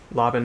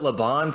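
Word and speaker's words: Laban: physicality with conductors and i found out that for three years i'd been pronouncing laven incorrectly so that was yeah cause yeah cause you you called it labon for a while right when i was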